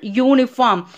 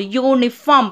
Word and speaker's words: uniform: Look at the example, uniform. Here the letter U is a vowel, but what is the sound of that vowel? That is a word noun. Is a consonant sound, uniform.